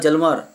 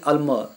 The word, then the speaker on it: Hjalmar: तो यहाँ पे HJALMAR है, तो अपनी हिसाब से पढ़ेंगे तो हजलमर होता है, हजलमर, या एच किया साइलेंट तो होता है जलमर, पर एक्चुअली ये एच दोनों नहीं पढ़ना है, हम सिर्फ पढ़ेंगे अल्मर। और यहाँ पे SCHACHT है,